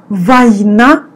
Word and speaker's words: Война: We pronounce instead of O, A. Война и мир.